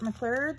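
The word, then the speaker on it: Fort Macleod: I think maybe Fort McLeod, which we call Fort McLeod because it rhymes with Ermagerd.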